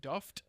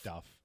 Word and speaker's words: Duff: Is it Duft or Duff? No, it's Duff.